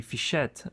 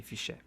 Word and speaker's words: Fichet: This is a Fichet 484. People say Fichet, but in French that T here is silent, so we say Fichet.